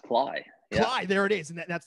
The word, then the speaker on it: Klay: is pretty cool everyone say hello to phil clay how are you phil i'm doing well doing very well uh i'm still applying actually what's this it's pronounced cly there it is and that's the first correction